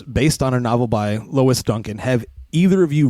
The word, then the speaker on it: Lois: say it right yeah it's Lois not Lewis right I'm pretty I'm pretty sure it's Lois right yeah you're like